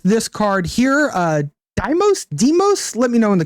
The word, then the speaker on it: Deimos: ambush and lethal demos I have chat telling me it's pronounced demos thank you chat appreciate